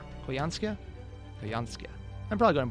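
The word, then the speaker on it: Koyanskaya: So it's, according to Cursed Hatter in the chat, it's pronounced Koyanskia. Koyanskia?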